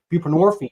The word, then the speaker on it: buprenorphine: We give narcotic addicts buprenorphine, which rhymes with morphine, Suboxone.